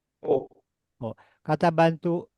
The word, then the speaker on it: を: kata bantu wo ditulisnya pakai O dibacanya apa Marco? Oh, Oh, kata bantu E ditulis pakai apa Marco?